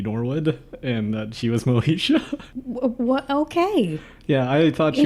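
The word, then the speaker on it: Moesha: Moishe by the way kind of hoping you'd like get like some syllable wrong absolutely not no Isha nope Moishe I know this so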